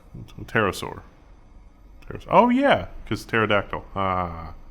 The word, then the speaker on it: pterosaur: million years so there's the p is silent pterosaur oh yeah because pterodactyl